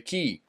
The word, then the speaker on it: quay: Yeah, the key, it's called the key, the ferry key, which is spelled QUAY key.